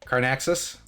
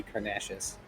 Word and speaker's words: Carnaxis: Carnaxis? That sounds right. Okay. Yeah, that should be correct. Otherwise, it would be the only other way an X can be pronounced, in at least in English, as far as I know, is an SH format. So it would be Carnacious.